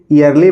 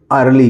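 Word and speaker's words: early: है ई ए आर एल वाई तो इसको क्या पढ़ेंगे यरली पढ़ेंगे अर्ली पढ़ेंगे या एयरली पढ़ेंगे नहीं दोस्तों इसको हम पढ़ेंगे अर्ली क्या पढ़ेंगे अर्ली इसी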